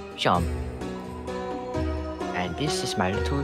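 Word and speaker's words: Seam: The name's Sharm, pronounced Sharm.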